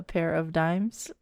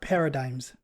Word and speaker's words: paradigms: With a pair of dimes. I like that. Not a pair of dimes. No, no. Paradigms.